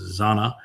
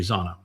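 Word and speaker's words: זונה: And then he goes on to say that she is Zonah. Sometimes it's pronounced Zana. Zona is the more common Hebrew pronunciation now. The older version would be Zana, same 3 letters.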